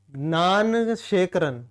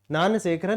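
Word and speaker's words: Gnanasekaran: चीज नेक्स्ट है सत्यन नान सेकरण ठीक है सत्यन नान सेकरण ठीक है जी साइलेंट रहेगा सत्यन नान शेखर makes history in Barrett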